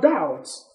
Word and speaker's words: doubt: fun then we have doubts the oh you beat C can all of you sit down sit down doubt you know that B is silent in doubt okay have you thought